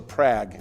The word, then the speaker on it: Prague: Yeah, the town rhymes with bag. So Prague. Yeah. I should have known that. I don't know why I added the ooh at the end, because I know the UE is silent.